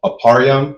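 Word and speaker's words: אפרים: For instance, a um aparam, which is how you say Ephraim, the tribe of Ephraim, who are the so-called Puerto Ricans, right?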